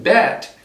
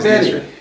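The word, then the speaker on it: Bette: And Jack Garrison is the main American guy character in there, and then Bet Diekman. So it's not Betty. Yeah, you know, in Israel it's Bet.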